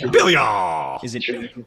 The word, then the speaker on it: Bilyeu: I've heard Blue, Bilyeu, all these different I like that. pronunciations. Yeah, Bilyeu.